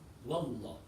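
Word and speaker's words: والله: Wa is not right. It's wallah.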